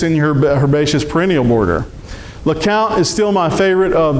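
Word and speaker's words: LeCompte: Lacount is still my favorite of the blues or purples. That's going to have the longest balloon chains. and Lount, that's pronounced like C O U N T because it comes from Lount, Louisiana.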